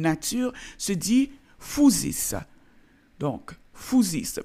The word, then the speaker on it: phusis: Donc, phusis, même si c'est écrit P-H-U-S-I-S, ça se prononce fou.